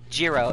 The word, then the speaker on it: Jiro: Jiro, not hero. Well, no, his name is pronounced Hero.